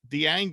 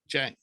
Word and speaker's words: Dieng: It's Ousmane Dieng. Is it Ousmane? Ousmane Dieng. Dieng. Oh, right. I forgot the D's pronounced it right.